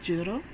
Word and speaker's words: Jiro: So yes, Jiro is 0, and that's how it's pronounced, Jiro, and it's 0.